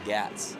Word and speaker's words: Gatz: It's actually Gatz. It's Gats? Gatz. Wow. Not Gotes, it's Gatz.